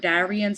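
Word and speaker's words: Daryan: So it's like you can't help but emphasize the Y in his name. I've never heard anybody else pronounce it differently. I've always heard Darian, so I guess just because it's such a unique spelling of the name, you really can't help but pronounce it like that.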